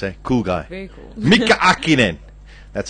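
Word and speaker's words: Häkkinen: Mika Hakkinen.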